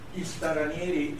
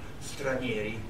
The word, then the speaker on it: stranieri: Istaranieri is a way in which a Somali person pronounces the word stranieri, which means foreigners in Italian.